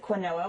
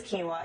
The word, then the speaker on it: quinoa: You might also pronounce it quinoa, which I like that pronunciation better, so that's what I say, but the real pronunciation is quinoa.